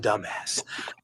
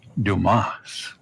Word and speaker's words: Dumas: lot to dumbass and Dumbass Dumbass material all the way so am I your man Mr dumbass the name is Dumas that's pretty thickheaded but